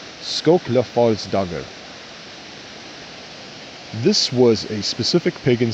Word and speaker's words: Skóklafallsdagr: On June 3rd, it is Skóklafallsdagr. Excuse me, let me repronounce that for you guys. Skóklafallsdagr.